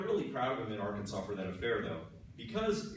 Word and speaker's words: Arkansas: you may not know Arkansas is one of the only states that has a silent s in its name that just irritates me I mean Kansas uses their s and it's pretty much the same word so I don't know